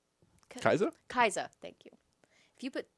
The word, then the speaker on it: Kai'Sa: But I mean, if you put Syndra and how do you pronounce her name? Kaiza? Kaiza.